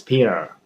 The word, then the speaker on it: Peter: So the T is not there. So it's Peter.